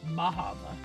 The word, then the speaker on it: Bar Harbor: So we're going to a place today called Bar Harbor, and we're going to see what that's all about. Some call it Bahava. I don't know.